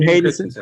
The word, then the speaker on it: Hayden Christensen: Christian Hayden Hayden. Christensen.